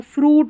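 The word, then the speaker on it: fruit: देखिए यू आई को ऊ करके पढ़ा जाता है कुछ स्पेलिंग्स में, तो यहाँ पर ऊ पढ़ा जा रहा है और टी को ट, तो फ्रूट हो गया, ऊ करके फ्रूट यानी कि फल।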